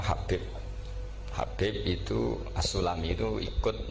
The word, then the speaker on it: Habib: Ada yang nulis Abi Abdurrahman Habib As-Sulami. Yang benar itu bacanya Habib.